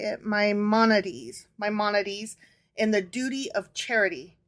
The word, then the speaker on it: Maimonides: my how do you say it my moneties maimonides and the duty of Charity I said Duty